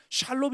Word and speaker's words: 샬롬: 실제로 여기 보물의 는 살롬 이라 적혀 있는데 샬롬 과 살렘 은 사실 발음 거의 비슷합니다 그 나라 발음으로는 샬롬 이라고 말했다 는 거에요 거기서 제단을